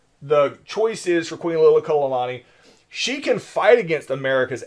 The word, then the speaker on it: Liliuokalani: Queen Liliuokalani, all right, and I am pronouncing that one right.